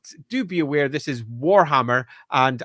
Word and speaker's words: Warhammer: But do be aware, this is Warhammer, and I will stress the first syllable of that.